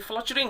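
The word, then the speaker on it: fluttering: ये, इसको वैसे देखिएगा, इसको फ्लटरिंग हम वैसे सिंपल बोल देते हैं, फ्लचरिंग होता है स्टूडेंट, फ्लटरिंग नहीं होता है।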